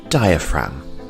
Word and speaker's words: diaphragm: have the diaphragm and the g here is silent diaphragm our next body part